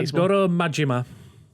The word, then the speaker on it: Goro Majima: series belov reoccurring character uh how do you pronounce his name properly because I'm going to say I'm wrong uh Goro majima thank you and embark on an over-the-top journey